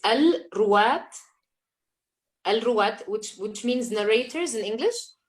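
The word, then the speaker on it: Al-Rowat: Could you clarify the name of that organization you worked with and spell it out so we can figure out what it is? It's Al-Ruwat, which means narrators in English. Al-Ruwat.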